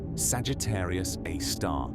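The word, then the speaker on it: Sagittarius A*: Astronomers call it Sagittarius A star, pronounced Sagittarius A star, a name that sounds clinical and precise, but that refers to something almost beyond description.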